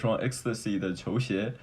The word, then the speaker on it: Xtasi: I also go by Xtasi, though the word Xtasi doesn't have any meaning itself, but it has the same pronunciation with. ecstasy, which means a illusion